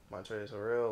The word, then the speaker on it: Montrezl Harrell: Like they just got Montreal Harrell, if that's how you pronounce it. You talking about Trez? Yeah, Montrezl Harrell, like.